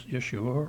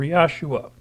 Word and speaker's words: Yeshua: I have friends that use what, to my understanding, is the pronunciation of Jesus in Hebrew, which is Yeshua or Yahshua.